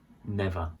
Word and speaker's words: never: Never. So here we don't say the R on the end, like never. It's just never, never.